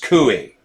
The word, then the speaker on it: Coie: establishment law firm like perkins coie pronounced cui she served as deputy